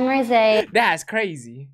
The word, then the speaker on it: Rosé: Apparently, I'm Rosé.